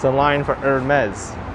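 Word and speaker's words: Hermès: and hermes over here it's not hermes it's hermes that's how you say it and i thought i knew how to pronounce it for a while i called it ermey for like the longest time but it's not earned me is aromas you gotta say it really fancy what is this saint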